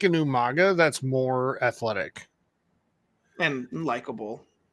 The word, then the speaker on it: Umaga: heels um like I've said before really sold Umaga was um William Regal was General Manager at the time and he couldn't pronounce his name right he kept I mean intentionally but he kept calling him umanga umanga yeah one's up for the bloodline which one